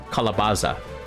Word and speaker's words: calabaza: out that calabas that calabasa how we pronounce it is um similar to the Spanish named calabaza so that one is c-a-l-a-b-a-z-a kalabaza and that one is